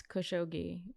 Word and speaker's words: Khashoggi: I think no it's khushogi that's the that's the Washington Post way of pronouncing it but I want that